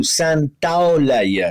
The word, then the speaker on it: Santaolalla: I always say Santaolalla. Very good. Very, very close. Very, very close. The diphthong you have to do, Santaolalla.